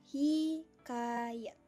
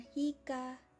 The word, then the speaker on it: hikayat: itu ada kata hikayat kalau dilafalkan itu hikayat dan pemenggalan yang benar itu ya itu Hi kayat ada lagi dengan hikaat kalau yang salahnya itu hikai terus belakangnya ad